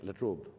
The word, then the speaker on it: La Trobe: I'm deeply grateful to the university, the La Trobe, do I pronounce it right? La Trobe.